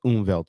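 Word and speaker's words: Umwelt: There's a word, a German word called unvevelt. It says unvevelt or it it's it's pronounced unvelved and that's what it means is perceiving the world as you see it.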